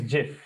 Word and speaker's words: GIF: over Google you'll understand the pronunciation of this word is not GI the pronunciation is JF remember JF many people don't know it is JF G FF spelling wise it is GI f okay quite an interesting